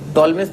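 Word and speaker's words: Ptolemy: हाँ, टॉलमेस थ्योरम है ना, P साइलेंट है ना, पर टॉलमेस थ्योरम नहीं है, टॉलमेस थ्योरम।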